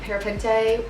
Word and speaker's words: parapente: Paragliding, parachuting, parapente.